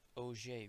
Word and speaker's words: Auger: of a combination although spelled like auger it's pronounced oj recombination similar to radiative recombination the electron drops